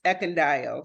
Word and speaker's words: Ekundayo: having me and my last name is pronounced eond so many people exactly the way it's spelled